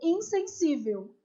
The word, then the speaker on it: insensível: É uma paroxítona polissílaba. 1, 2, 3, 4. E também é paroxítona, acentuada porque termina em L. A sílaba tônica é isso aqui, ó, é o si.